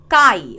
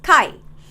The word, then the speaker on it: chi: letter X but how is it pronounced it's pronounced as Chi okay how do you pronounce it pronounce it as Chi okay so that is the symbol now how